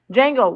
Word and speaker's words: Django: I keep pronouncing the D. Django.